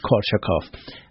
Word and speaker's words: Korsakoff: Korsakoff.